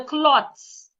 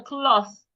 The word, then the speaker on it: cloth: thinking you might say where is the clots? It is not cloth. The th should not be pronounced like a t. Put your tongue outside and say where is the cloth?